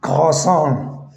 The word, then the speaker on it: croissant: So be careful. Croissant, you're going to pronounce croissant. No, so the sound it's coming a little bit more, from the throat.